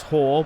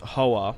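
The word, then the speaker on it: Hoare: thus extincting House Hoa, which apparently is pronounced House Hor, but I think it's, yeah, apparently it's Hor, but I've always said it as House Hoa.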